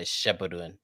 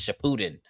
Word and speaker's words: Shippuden: I hate people who say it wrong too. They be like Shippuden or whatever the fuck they be saying. It's Shippuden.